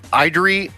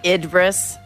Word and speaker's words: Idris: too real fast i idri elba did i say his name right idri elba idris i think it's idris it's i think that was